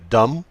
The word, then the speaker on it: dumb: ايه هي مجموعة الليترز اللي بتديني الصوت M him film me time whom summer common MB وبتكون البي silent زي dumb ولام LM والL بتكون silent زي come palm MN N is silent بتكون ال N silent autumn.